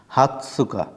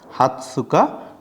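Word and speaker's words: 二十日: হাতসুকা হাতসুকা এ বড় তস এজন্য আমরা তসটা উচ্চারণ করতেছি হাতসুকা 20 তারিখ হাতসুকা 20 তারিখ এরপর আমাদের 21 তারিখ 21 তারিখ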